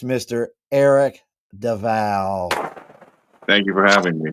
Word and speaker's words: Del Valle: But it's Spanish, so when there's a double L, it's pronounced like a J, so it's Del Valle. Del Valle.